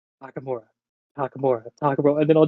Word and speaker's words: Takamura: and takamura takamura um and I said it right the first um no you said takamaru it's okay you told me that you